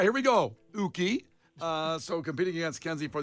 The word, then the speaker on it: Yuki: And competing today will be Mookie checking in from Hoffman Estates. Mookie, tell us something about yourself. It's actually pronounced Uki, Brian, U-K-Y. Oh, Yuki.